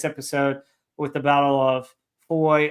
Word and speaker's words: Foy: with the Battle of Foy, or I've heard it pronounced Foy, Faw. I don't know.